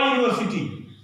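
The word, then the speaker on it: university: अब बताइए जो है ये यश शुरू है और यह यू है, तो उच्चारण यश इसको माना जाएगा, अ यूनिवर्सिटी, है ना।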